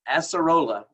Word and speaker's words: acerola: So it's rich in, I looked up the pronunciation of this, by the way. It's acerola.